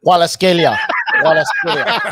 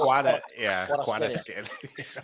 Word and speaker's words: Kvaratskhelia: Liam saying, is that really how you say it, Nigel? Kvaratskhelia? Kvaratskhelia. How they say it in Naples. Kvaratskhelia.